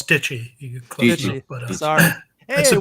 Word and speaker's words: Deitche: I hope I pronounced your last name. Doing well. It's Deitche.